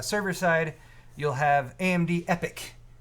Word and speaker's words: Epyc: So on the server side, you'll have AMD Epyc, EPYC is how it's spelled. They like replacing vowels with Y's. Yeah.